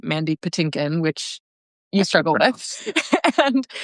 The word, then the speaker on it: Mandy Patinkin: for one another, and it's the name Mandy Patinkin, which is Mandy Pampkin. And Seth's mispronunciation of that.